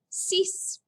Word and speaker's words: six: sank number six is spelled just like it is in english but it's pronounced cease number seven set number